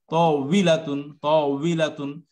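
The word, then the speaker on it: طاولة: তাওয়িলাতুন, দুই ঠোঁট গোল করে উই এরকম উচ্চারণ করেন, দেখবেন হয়ে যাবে ইজিলি।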